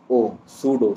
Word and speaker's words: pseudo: जो सूडो world है, सूडो की स्पेलिंग क्या है, PSEUDO, सूडो।